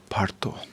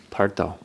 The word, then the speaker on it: bardo: But you're pronouncing it? Parto. Pardo.